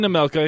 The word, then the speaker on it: Nemelka: Nemelka.